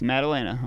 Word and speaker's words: Maddalena: It's Maddalena.